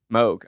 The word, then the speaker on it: Moog: decent price I think theramin theramin so it's pronounced Moog I apologize I know I know we all